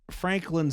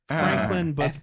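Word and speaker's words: Francklyn: called Franklin Cottage and that's Franklin spelled in the worst way I've seen um spell spelled like Mormon eldest daughter Franklin f r a n c k Lyn Franklin this was a mansion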